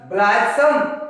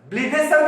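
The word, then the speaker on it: blithesome: Even in motion, ब्लाइथसम and cherry. ब्लाइथसम, ब्लीदेसम भी कोई लोग पढ़ते हैं, इसका प्रोनाउंसिएशन ब्लीदेसम भी है, ब्लाइथसम भी है, जो भी आपको अच्छा लगे आप प्रोनाउंसिएशन कर लीजिएगा।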